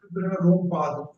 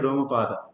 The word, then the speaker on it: Romapada: like in Hindi we read is Rompad, but in English it's there. This A is having the value actually. This Romapada we should read as Romapada.